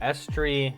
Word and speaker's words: Aestri: So, I've been pronouncing the name a little bit wrong here. So, it's actually called Estri Yazar. That is her actual name.